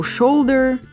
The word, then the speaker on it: shoulder: оу як сверл є варіант слів типу shoulder so і там ближче до тіста оу читає читається як у слові Доу що ви добитих це звичайно